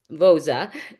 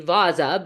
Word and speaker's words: Vozza: So I was asking Ray how he pronounces his last name. A lot of people say um, Vozza, but he says it's actually Vozza. But if you're hardcore Italian, you say Vozza. So I said I'm a half breed, so I'll say it like that.